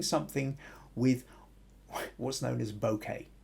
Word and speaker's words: bokeh: with what's known as bokeh or that might be one way of pronouncing it b-o-k-e-h uh translation of the